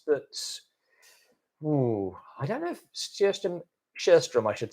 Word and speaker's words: Sjöström: I think I don't know if we do a special on it, but I don't know if Sjöström, I should say. I learned how to pronounce his name properly, specifically.